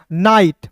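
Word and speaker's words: night: यहां पे देखिएगा एन आई जी एस टी को पढ़ेंगे दोस्तों। नाइट।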